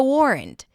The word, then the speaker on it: warrant: And we start with a W sound. Then it's the or as in for. And then rent. Rent. There is a schwa sound there. Warrant. After the w, you can also open your mouth more for an a sound.